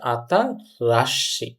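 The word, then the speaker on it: 新しい: এটা সঠিক উচ্চারণ হচ্ছে আতারাশি।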